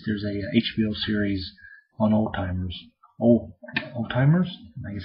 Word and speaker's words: Alzheimer's: a HBO series on Old Timers all all-timers and I guess it's a couple timers it's alh em my ner or something like that uh not spelled like Alzheimer's but pronounce like Old Timers it was interesting it